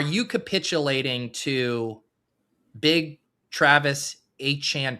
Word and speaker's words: Etienne: because that's like the down south pronunciation of that name with the little French in there. And I was all it's Etienne, you don't know ball, you're stupid.